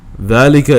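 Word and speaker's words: ذلك: is valleca as well is written with no Aleph but it's pronounced with an Aleph the dica delica is a demonstrative pronoun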